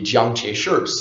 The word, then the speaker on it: Chiang Kai-shek: would call him well we have historically referred to him as Chiang kai-shek but but the the Mandarin pronunciation of his name would be John t-shirts so however you like but for now let's say Chiang kai-shek because that that is the way most people know him in the West so